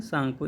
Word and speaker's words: Tsangpo: यार्लुंग सांगपो की स्पेलिंग देखिए, लिखा हुआ है TSANGPO। तो तिब्बत में ब्रह्मपुत्र नदी को किस नाम से जानते हैं? सांगपो।